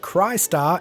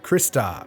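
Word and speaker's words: Crystar: she cries a lot which is why this is pronounced Christ are and not Krista a lot of the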